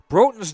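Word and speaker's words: Broten: Broughton's name is spelled B-R-O-T-E-N like the hockey players from Roseau, but it's pronounced Broughton, and he certainly hits like a hockey player.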